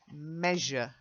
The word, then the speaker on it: measure: Zh, measure. Try it. Measure. Getting there. You're getting the Z, but you've got to get the zh as well.